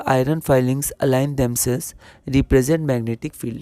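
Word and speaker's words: filings: यहां पर फिलिंग्स की जगह हम लोग इसको फाइलिंग्स प्रोनाउंस करते हैं।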